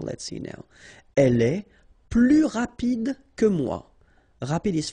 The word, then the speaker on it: plus: and in that case you don't pronounce the S, okay, plus.